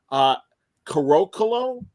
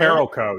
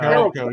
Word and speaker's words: Carolco: One, Carocolo. I forget how to say it. Carolco, yeah. Carolco, yeah.